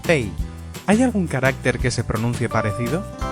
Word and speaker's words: 背: Ahora, espalda se pronuncia bèi... ¿Hay algún carácter que se pronuncie parecido? ¡Norte 北! Norte se pronuncia běi… Vale, pues ponemos que es una parte del cuerpo que se pronuncia como norte.